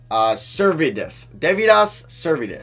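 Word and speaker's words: Deividas Sirvydis: Okay, it's pronounced Devidas Servidis.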